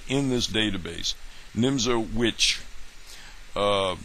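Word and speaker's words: Nimzowitsch: Nimzo Witch, uh, with a W, although the W is pronounced as a V.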